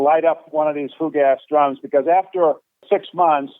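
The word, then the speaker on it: fougasse: uh 50 gallon drums of what they called food gas i think it's spelled f-o-u-g-a-s-s-e that's a french term food gas which is basically it's it's a gasoline mixed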